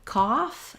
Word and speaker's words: cough: Then when we look at the word cough, this is a less common pronunciation. Although when we have it with OUGTH, it does show up this vowel. So the vowel in off and in cough and in bought, I've rewritten that here with the letters AW.